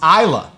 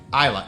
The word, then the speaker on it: Islay: over here anyway it's isla that's how you say it isla it is spelled islay i'll give them that but it is pronounced isla and i'm not the